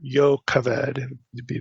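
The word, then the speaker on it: Jochebed: his as his wife jobed his father's sister or yoked be the better hebraic pronunciation amram took his wife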